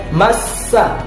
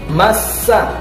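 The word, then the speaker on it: مَسَّ: Nah, ada bacaan ya, cara membacanya huruf sinnya, perhatikan huruf sinnya itu ada tanda W tasydid, dibaca massa, massa, massa.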